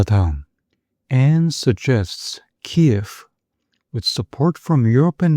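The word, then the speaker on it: Kyiv: and suggests KF with support from Europe and NATO can restore its old borders. 자, KF 우크라이나의 수도 크유를 영어식으로 발음한 거죠.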